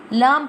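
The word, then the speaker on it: لام: Lam pronounced from the edge of the tongue touching the gums of all the top front teeth, like this. Lam. Lam.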